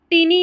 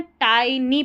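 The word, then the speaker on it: tiny: है यात्रा ऑफ अ इसको टिनी नहीं पढ़ना है टाइनी पढ़ेंगे टी आई एन वाई को टाइनी पढ़ा जाता है बहुत छोटा जो रहता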